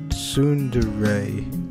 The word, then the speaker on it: tsundere: The word for that was, from what I've come to understand, it's pronounced Tsundere, right?